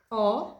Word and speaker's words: ho: Kapan H di depan kata, kita tidak harus bilang H. Jadi di kata ini, saya memiliki, hanya itu tidak harus diucapkan. Oke? Kapan kalian lihat H di depan kata, jangan ucapkan hanya.